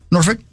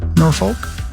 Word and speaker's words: Norfolk: Say it slowly. Norfolk. Mhm. Virginia. That's how it's said. I don't know. I I I know. I I I know that that's how it's said, but you got to be real careful when you just drop that L.